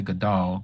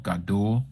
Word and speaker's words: Gadul: Well, I don't say Gadal. Gadul with the U between the D and the L.